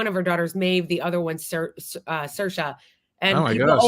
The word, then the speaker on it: Saoirse: Saoirse. Yeah, Saoirse like a nurse.